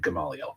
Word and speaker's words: Gamaliel: It kind of looks like Gamaliel. So I had to listen to somebody on Google pronounce it for me, and it said Gamaliel. So we're going with that.